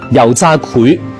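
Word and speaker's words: 油炸檜: 嗱，發音係秦檜嘅檜，油炸檜。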